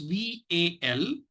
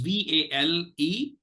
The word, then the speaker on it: valetudinarian: It is Valetudinarian. Let me repeat. It is Valetudinarian. And this word, actually, the number of syllables is mind-boggling, because we've seen syllables of 4, 5, etc.